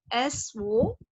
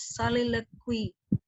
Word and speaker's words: soliloquy: The spelling is SOLILOQUY. You have to pronounce it as soliloquy. Okay, that SO, but you don't read it as so. It's soliloquy.